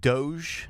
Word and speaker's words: DOGE: to understand the whole, are we calling it DOGE? I guess that's the word, Department of Government Efficiency. Technically, we're calling it, that's how you pronounce it, DOGE? I mean, it's not I thought it was technically. Doja.